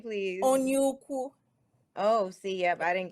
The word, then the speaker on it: Onyeukwu: Onyeukwu.